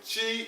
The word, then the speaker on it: Xi: And Chi is spelled X-I, like we have here, the Chi people.